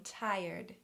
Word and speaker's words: tired: TirD, tirD.